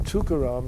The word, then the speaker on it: Tukaram: And uh the thing about the name Tukaram is if you break it up, which nobody does, but it's three syllables.